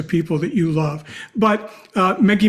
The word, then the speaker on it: Meggie: So let me just spell it, because Meggie's name is not Maggie, it's Meggie.